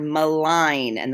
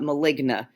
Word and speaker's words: malign: Then we move to the word malign, and that is how it's pronounced. It is not maligna. It is malign.